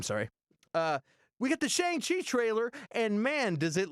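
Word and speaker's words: Shang-Chi: uh simulators is uh is shot and feige pronounces it shang chi uh and you know if you've seen kim's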